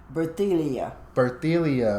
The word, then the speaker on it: Berthilia: so your name is berthilia right right yeah so how do you say it birthdaylia okay okay is there